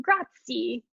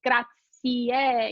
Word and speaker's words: grazie: gratier and yeah so in italian you have to pronounce every letter as you see it right so americans want to pronounce it grazie right just the e at the end but it's gracie because there's an e